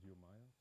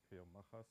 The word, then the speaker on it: Geomajas: And we have an open source product which is called Geomajas, or Eomajas, or Geomaja. You just can choose the pronunciation that you want.